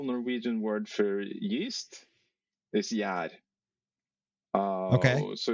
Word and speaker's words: gjær: So I'm just wondering, what's the actual proper pronunciation? Okay, so the general Norwegian word for yeast is gjær.